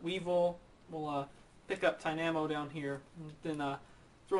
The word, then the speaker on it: Tynamo: about that or Tynamo why do I keep saying Tamo it's supposed to rhyme with Dynamo so Tynamo Ty we also get